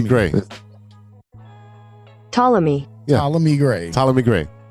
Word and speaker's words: Ptolemy: Yeah, that's Ptolemy. There's the P is silent, sir. It's Ptolemy Gray. Ptolemy.